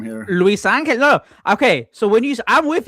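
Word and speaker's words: Luisangel: It's just Luis Angel. But like when you first see it, you're like, what are all these letters together? Yeah, it's like, how do you say it? It's like Luis Angel, but it's just together.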